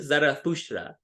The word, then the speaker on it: Zarathustra: I use the Greek pronunciation of his name, so it's more universal. And when do you say Zarathustra, maybe someone says, oh, what do you mean? Who are you talking about? And actually, even Friedrich Nietzsche, in a German philosopher, he actually used the original pronunciation, Zarathustra, and in English even right, thus spoke Zarathustra.